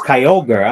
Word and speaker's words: Kyogre: Bridge you've got the right lane shut today Kyogre oh it's Kyogre I'm sorry thanks for uh clarifying Tina Kyogre